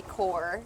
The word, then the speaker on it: corps: You know, you start doing stuff in the ballet core. Yeah. Which is like it's spelled like corpse. Yeah. The core to ballet. So that's like the group like the military corps.